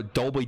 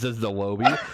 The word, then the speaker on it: Dolby: are like and so Dolby Digital is how you pronounce it you know Dolby and Matt Cody left and that goes hey you know Cody says dilo be the low B so I'm playing and